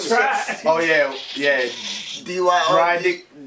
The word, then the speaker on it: Dyrdek: It's all Rob Dyrdek, D-Y, I don't know how to spell. Oh, D-Y-R-D-E-K. I don't fucking know how to spell that shit. Oh yeah, yeah. D-Y-R-D. Dry dick.